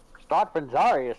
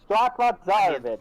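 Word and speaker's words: Strahd von Zarovich: Strahd Benzarius, I say.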